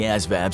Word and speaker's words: ASVAB: Another initial hurdle is doing well on the ASVAB (pronounced as-vab) exam.